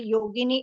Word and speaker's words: Yogini: in the same way yogini is a version of saints yeah beautiful and it rhymes with Linguini if you know what's